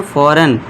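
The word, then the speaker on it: foreign: फॉरेन जी silent रहेगा।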